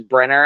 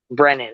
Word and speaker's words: Brennan: James Brenner. I always say it wrong. What is it? Brennan.